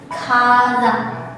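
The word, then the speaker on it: 火山: Seperti ini, dia ditemani oleh kanji api atau ka, maka dia dibacanya kazan, yang artinya adalah volcano atau magma.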